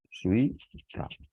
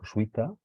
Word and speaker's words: jesuita: Por ejemplo, la palabra jesuita, aquí vemos cómo tenemos, esta palabra es interesante porque en castellano es diptongo, jesuita. Tenemos aquí dos vocales cerradas juntas, se pronuncian al mismo tiempo, jesuita, y es llana, y por lo tanto